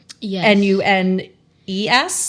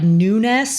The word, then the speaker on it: Nunes: So, I'm like nunness and I'm just like no, this is like the most English pronunciation. But is that correct? That's right. Nunes.